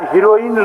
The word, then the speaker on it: हेरोइन: माननीय मंत्री जी, उसके पहले थोड़ा सा इसमें शायद हीरोइन लिख दिया है। हीरोइन नहीं होता है, हेरोइन होता है।